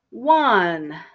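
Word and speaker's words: Juan: which means she has been driving for three hours okay and number seven one now this is a Spanish name and the J is silent one or one in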